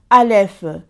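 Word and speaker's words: אלף: Parce que dans la première lettre de l'alphabet hébraïque, Dieu s'annonce, se prononce Aleph.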